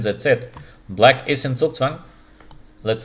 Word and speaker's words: Zugzwang: Okay, in English, yeah, Zugzwang, but in German it would be Zugzwang, yeah.